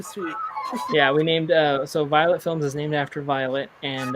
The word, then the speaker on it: Violette Films: And it's Violette Films, and people pronounce it Violet Films. It's the French spelling pretty much of it.